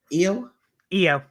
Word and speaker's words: Io: How do you pronounce it? Io? Io.